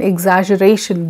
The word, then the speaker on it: exaggeration: helps in your pronunciation a word like exaggeration it has two G's double g g one is used as girl and other is exaggeration exaggeration break it egg exaggeration so the words like apprehensive